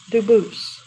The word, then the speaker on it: Dubus: you pronounce it Dubus, Dubus? as the original Dubus, as the original French. Yep. Very well, Dubus.